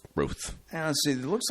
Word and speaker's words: Routh: And I've heard a different way of pronouncing his name now. Now they're saying Ruth. Have you noticed that? No. As opposed to Routh or Roth or whatever.